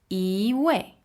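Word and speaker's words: 一位: is X fourth tone now be careful with this e way e way now before we talked about e right as a fourth tone we said e and here in the second context we see e e becomes a second tone okay I'm confused cuz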